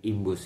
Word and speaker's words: IMBOOST: Jadi tulisannya itu IMBOOST gitu ya, Imbus atau bacanya Imbus ya.